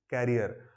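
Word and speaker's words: career: Spelling differentiate कर लेते हैं लोग बाग, बट प्रोनाउंसिएशन बिगाड़ देते हैं। खुद के भविष्य को कभी कैरियर मत कहिएगा, वो साइकिल के पीछे होता है।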